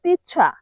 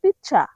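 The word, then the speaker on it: pizza: পিজ্জাকে Italian ভাষায় বলা হয় পিচ্ছা। মানে ইতালিয়ান উচ্চারণ হবে পিচ্চা।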